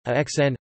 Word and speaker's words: Aachen: Aachen, German pronunciation, Aachen, listen, or Bad Aachen, French and traditional English, Aix-la-Chapelle, French pronunciation, Kaslapel, is a spa and border city in North Rhine-Westphalia, Germany.